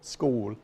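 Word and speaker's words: skål: teaches Swedish at the American Swedish Institute Kohl school scores mm-hmm that's how it's pronounced how do you spell that ska with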